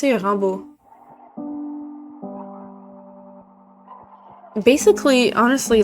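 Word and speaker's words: Rimbaud: Rambo than the English Rambot. Rimod. Yeah, we pronounce it Rambu. Basically, honestly, like a a good rule of thumb for French is that the last consonant is pretty much always silent.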